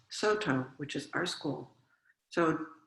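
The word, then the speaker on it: Sōtō: founded the so dongchan founded saodong school which in japanese is pronounced soto which is our school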